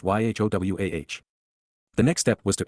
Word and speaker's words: Yahowah: They are all actually written Shalom, Torah, and Eloah, Elohim in the plural, conclusively demonstrating that YHWH is pronounced YHOWAH.